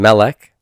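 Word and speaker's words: מֶלֶךְ: And then Melech has two syllables, overt accent mark over the first one, so that's tonic, and therefore the one after must be post-tonic.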